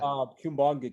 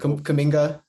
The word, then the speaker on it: Kuminga: Kumbanga kid, if I'm pronouncing that right. Kuminga.